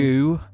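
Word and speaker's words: Gü: Goo. I guess it's pronounced Goo.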